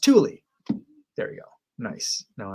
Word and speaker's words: Thule: That word is pronounced Thule.